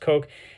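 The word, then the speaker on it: Koch: So, Hugo, not Hugo, I think it's pronounced Coke, and Joseph uh Stiglmayr um independently exposed this forgery in 1895 around 1900.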